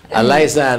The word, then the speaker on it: Aliza: Aliza, no? It rhymes with pizza.